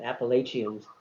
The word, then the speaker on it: Appalachia: It's called it's a mountain range called Appalachians. Appalachia is how they pronounce it.